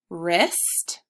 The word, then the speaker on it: wrist: So WR says the W is silent. And this happens at the beginning of words.